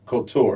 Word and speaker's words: Cultura: I'm going to make sure I'm pronouncing it right. It's Cultura, right? Cultura. Cultura, excuse me, because it's the Spanish tense of culture, right?